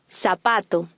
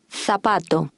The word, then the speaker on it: zapato: The Spanish Z has an S sound. Zapato. Zorro. In Spain, the Z has a TH sound. Zapato. Zona. Zapato and zona. The Spanish D is pronounced soft after a vowel.